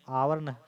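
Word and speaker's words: hour: fail करना है देखि जब भी हम लोग इसका उच्चारण करते हैं तो आवर हावर नहीं करते हैं मतलब हा से नहीं आ से करते आर बोलते आर बोलते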